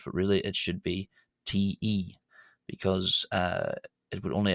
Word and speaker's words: ϯ: But really it should be te because uh it would only ever really be